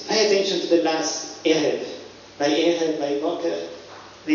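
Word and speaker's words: ערב: the most interesting thing, they pronounce a I as a n or as a n, which is quite different from what we say. So they say, instead of saying erev, they say ungerev, which is quite unique among Hebrew pronunciations among different communities.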